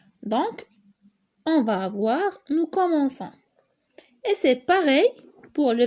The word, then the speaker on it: commençons: Nous commençons. Eh bien, c'est normal, parce que sinon, on prononcerait nous commençons.